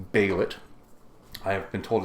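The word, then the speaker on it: Bêlit: stupidity in my head where I have always said this name is bellet now I know that's entirely wrong but that's the one I always fall to I have been corrected on this channel I've been told no no no it's bailit I have been told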